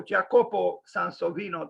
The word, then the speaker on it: Jacopo Sansovino: 27 but uh different year of course jacobo jacopo san sovino today i checked his the correct pronunciation and apparently jacopo sansovino died so let's